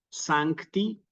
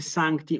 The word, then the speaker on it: sancti: sí espíritus sancti nuevamente Santi una palabra bisílaba sí que como es bisílaba recordamos se acentúa siempre en la penúltima sílaba Aunque el Misal no